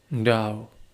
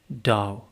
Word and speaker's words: Tao: In Lauzu's philosophy, the unity is called Dao. Although it is written Tao in Chinese, it is pronounced almost as if it were spelled D O W rather than T A O.